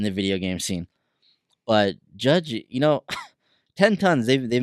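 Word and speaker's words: Jydge: what I can gather it's pronounced judge but it's spelled with y JY b GE so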